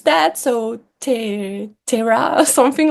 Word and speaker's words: Te Rā: I promised myself not trying to pronounce that. So Ter Terra something like this. Yeah. Yeah. Yeah. Terra.